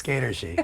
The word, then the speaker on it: Skatergy: Yes, Skatergy.